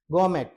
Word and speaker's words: gourmet: એના પછી gourmet. This is actually R is silent here, so you can speak gourmet, not gourmet.